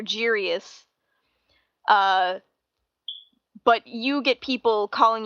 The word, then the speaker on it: Giries: So it's interesting that I have the hard G sound at the beginning, so you have the soft G sound, so you're Giries.